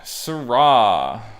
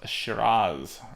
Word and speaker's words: Shiraz: Australia is also known for Syrah, but they call it Shiraz. Rhymes with jazz.